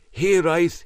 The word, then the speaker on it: Hiraeth: expensive land curiously named here ice Heath very close to the north Devon Coast here I is a Welsh word pronounced slightly different than it's spelled as far as I'm